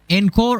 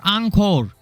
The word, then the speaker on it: Encore: Now let's talk about the second T0, that means second tier, that is going to be Calcharo and Encore or Angkor. 2 pronunciation, both are correct.